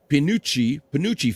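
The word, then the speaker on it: Penuche: I don't know Panouche?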